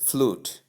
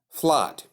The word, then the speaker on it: flood: Wrong pronunciation. Most people say flute others say flood. Please none of these pronunciations is correct. The right pronunciation to the word or for the word is flat which is the for